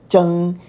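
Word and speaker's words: 丁: Speaking of onomatopoeia, the character ding can also be pronounced Zheng, which is a clang sound.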